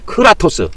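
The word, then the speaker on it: κράτος: 카라토스 아이 크라토스 크라토스라고 합니다.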